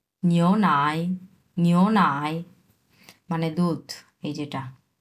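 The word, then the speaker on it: 牛奶: আমরা চোখ দিয়ে দেখব এটা এবং উচ্চারণ করব এরকম। তাহলে কি হল এটা? নিও নাই। নিও নাই।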